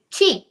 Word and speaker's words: qi: think it's what's qi ki qui chi Chi.